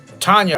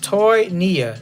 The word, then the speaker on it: Toynia: Tanya, right? Did I say it? Or Toynia. It's pronounced Toynia. Toynia. Toynia. What's going on? I thought it was Tanya, my bad.